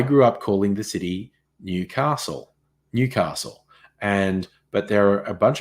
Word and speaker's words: Newcastle: It's Newcastle. When Americans say soda, oh yes, that's another one.